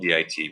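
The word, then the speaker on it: dit: And so we're going to teach the computer what a di is, and it's spelled D-I-T with a T, but we don't say the T, just say di.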